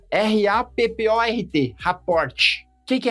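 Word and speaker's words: rapport: Raport, ó, rapor, primeiro que se escreve estranho, né? R a p o r t.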